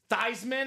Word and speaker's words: Theismann: It's actually not pronounced Theismann anyway. Proper pronunciation is Theismann. So if you want to actually impress somebody, this man's name is not Theismann. It's not Theismann. It's not Theismann. It's Joe Theismann. Proper pronunciation of this legend right here.